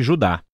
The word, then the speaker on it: Judá: a carta de Judas o mais precisamente Judá de acordo com a pronúncia do seu nome tanto em grego como em hebraico o Judas foi um